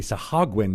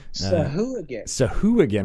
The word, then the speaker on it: Sahuagin: We used to be Sahagwin is how I thought it was, but you pronounce the ooh as a ooh-agin. Sahuagin.